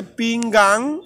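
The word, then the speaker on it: pinggang: এই পিংগাং দুটো শব্দ আছে একই রকম, একটা হচ্ছে পিংগাং আর একটা হচ্ছে পিংগান। পিংগান আর একটা হচ্ছে পিংগাং। পিংগাং হচ্ছে মাজা, কোমর, আর পিংগান হচ্ছে প্লেট। মনে রাখবেন, দুটি শব্দ এক হলেও উচ্চারণ কিন্তু ভিন্ন।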